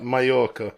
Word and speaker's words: Mallorca: Like Mallorca. Double L is a Y in Spanish.